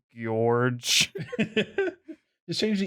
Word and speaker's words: Gorge: See, it looks like George, but there's enough O's there that you have to pronounce it George.